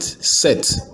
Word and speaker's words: cette: This one has let's spell it. Set.